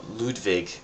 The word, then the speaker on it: Ludwig: don't know to which uh ludvig as it's properly pronounced um I don't really